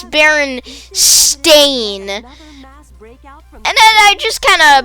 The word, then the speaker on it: Berenstain: barons the berenstein bears the baron stain bears which is you know the right pronunciation i i just for some reason i always called them but by that i didn't do this whole berenstain no it's it's barren stain and then i just